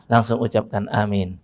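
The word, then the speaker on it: آمين: Dan perhatikan betul, pengucapannya harus benar antara tiga. Amin, A-nya panjang, min-nya panjang, dua-duanya panjang, ada matnya pada A dan ada mat juga pada min.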